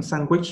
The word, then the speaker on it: sandwich: Sandwich là bánh sandwich thôi. Okay. Chữ D này âm câm, mình chỉ đọc là sandwich.